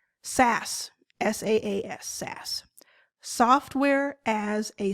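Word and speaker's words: SaaS: how you're able to use it so it's pronounced SAS and I used to say that I was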